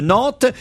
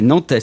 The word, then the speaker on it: Nantes: Moi, je prononçais avant le S de Rennes et de Nantes. Je dis Rennes et Nantes, par exemple. Les gens me disent non, c'est un S.